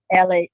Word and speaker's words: Eledge: Well, and it's Eledge. Is that, am I right? Or is it Eledge? It's Eledge. Is the word edge, EDGE, yep. with L.